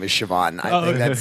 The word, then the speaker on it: Siobhan: my favorite name is Siobhan I think that's like one of my favorite names my favorite is just Americans uh trying to pronounce it CEO ban are you CEO baham